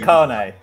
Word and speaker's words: Kane: And Kane. It's not actually pronounced my second name. Is it Carne? It is actually. But don't worry about it, because I refer to myself Kane anyway.